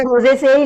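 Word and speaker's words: Rosaceae: बाकी इसकी प्रोनाउंसिएशन ऐसे होती है रोजे से, लेगुमिनी से एंड सोलेनेसी।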